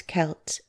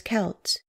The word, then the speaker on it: Celt: kimrie Cal TOI Celt the letter C began to substitute the letter K in spelling the name but the pronunciation is the same even in those remote